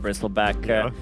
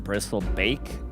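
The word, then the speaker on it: Bristleback: I have a funny story cuz you mispronounced bristle back cuz I mispronounced it once and I called them bristle bake and uh one girl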